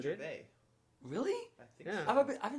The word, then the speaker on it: Gervais: Are you supposed to not pronounce the S? I've always pronounced the S at the end of his name. Ricky Gervais. Really? Yeah. Is that well, not... I don't think you I think it's just Gervais.